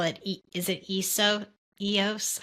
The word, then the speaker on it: Eos: I know that you call it is it EOS? How do you say it? EOS, yeah, EOS.